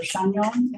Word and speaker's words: Chagnon: I've been saying Chanyon. Okay, that's what I would have guessed, but given how we pronounce French words in Maine, I wasn't sure. Is there anybody here for Sarah Chanyon or Chagnon or Chagnon, if we're being fancy?